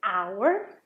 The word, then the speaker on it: hour: honor, like the word hour, or honest. They all start with H, but you don't pronounce it.